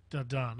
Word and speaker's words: Danann: The Irish Book of Invasion talks about the, I'm not even going to, the Tuatha De Danann. Yes. I'm not even going to try Tuatha De Danann. Danann, okay.